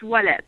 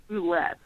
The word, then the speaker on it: Ouellet: Isn't it Ouellet? That's how I pronounce it. Oh, my God. It's Maryse Ouellet. But the Ouellet. American version is Maryse Ouellet. We say it so wrong.